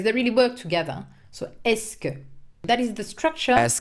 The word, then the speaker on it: est-ce que: The fixed expression is est-ce que. Est-ce que. Est-ce que. In Est-ce three que. words, est-ce que, pronounced est-ce que.